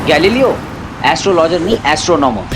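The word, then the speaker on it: Galileo: ब्रो, वो गुलेलो astrologer. कौन, नागपाड़ा वाला? अरे नहीं रे, वो साइंटिस्ट जिसने बोला था कि अर्थ जो है वो सन के राउंड चक्कर लगाता है। ओ गैलीलियो।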